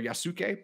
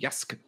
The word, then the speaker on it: Yasuke: It's spelled Yasuki or Yasuke, but apparently it's pronounced Yask.